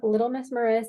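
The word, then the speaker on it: Little Mrs Maris: Yeah, I'm Little Miss Maris on every platform. Miss is spelled MRS.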